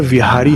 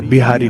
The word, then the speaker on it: विहारी: पहले तो देखिए शुद्ध उच्चारण विहारी है। बिहारी नहीं है।